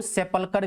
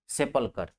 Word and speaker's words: sepulchre: इसी को सेपलकर भी बोला जाता है, SEPULCHRE, सेपलकर, SEPULCHRE, सेपलकर, ठीक है।